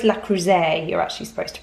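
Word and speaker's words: Le Creuset: i remember us giggling it i'm sure it's la croise you're actually supposed to pronounce it but la cruzo i think is what most people say um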